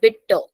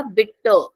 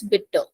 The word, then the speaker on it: bitte: the first one is bitter yeah bit again e is taking a pronunciation bit we can't say B that sounds very awkward so bit B bitter